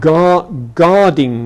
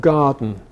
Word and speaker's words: garden: Hypercorrection gives rise to would-be elegant pronunciations such as chicking instead of chicken. Let's have some more chicking. And guarding instead of garden.